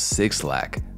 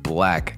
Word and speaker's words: 6LACK: often opt to sing 6 lakh which is understandable but the 6 acts as a b which stylizes his name differently black grew up in